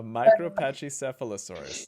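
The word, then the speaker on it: Micropachycephalosaurus: be content pakisaurus oh it's a pachy a micro Pache sealosaurus that's how you pronounce it J can't even say that that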